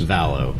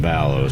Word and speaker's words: Valleau: However, in your defense, there's not even a complete agreement in my own family of how to pronounce it. So we get some Valleaus and some Vallows, but as long as it's the EAU, it's you're good.